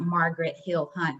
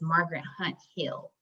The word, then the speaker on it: Margaret Hunt Hill: and a side note margaret hunt i'm sorry i said it wrong it's not margaret hill hunt it's margaret hunt hill um she's a white